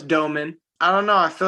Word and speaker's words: Domann: No, it's Domann.